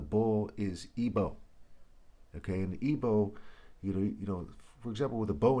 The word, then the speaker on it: Igbo: Okay, and Igbo, for example, with a bow and arrow, he spelled B-O-W. Igbo's I-G-B-O, or the G is silent.